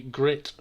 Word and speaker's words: Grit: to do with the Grit Championship that's coming up. And if you didn't know that, that's how it's pronounced. That is how it's pronounced. It's Group 1 and T for Tomahawk, so it's Grit.